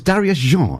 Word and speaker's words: Darius Jean: story to tell is Darius je is that correct pronunciation indeed it's French it is French who